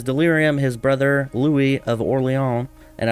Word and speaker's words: Orléans: his brother Louie of oron and I realize you know it's pronounced oron but with his name being Lou I want to pronounce it Louis of orle doesn't make any sense